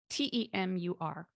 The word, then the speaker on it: Temur: Temur, like femur, but with a T.